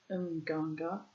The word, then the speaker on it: Mganga: The Mganga witch doctor, this probably should be pronounced Mganga witch doctor, was summoned to apply the usual ordeal.